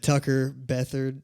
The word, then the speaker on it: Tucker Beathard: everything else yeah um my last name's pretty hard to pronounce for a lot of people but it's spelled just like beat hard right which is kind of weird that was tricky at first but uh Tucker Beth is how you pronounce it and um yeah